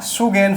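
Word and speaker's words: Sagaing: हैं इसका नाम है क्या सुगन फॉल्ट आप बोल सकते हैं क्या बोल सकते हैं सुगन जी जो लास्ट में वो साइलेंट है सुगन फॉल्ट भी इसको आप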